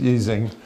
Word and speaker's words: Ising: question has always been how do you pronounce his name and the answer is anyway you want really when he was a German he was easing he later after some